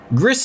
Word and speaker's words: Gris: Gris is on Steam and I believe it's pronounced like Greece because it's a Spanish developer.